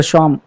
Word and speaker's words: Psalm: द शॉम, यहाँ पे P silent है, तो द शॉम of life written by एच W Longfellow.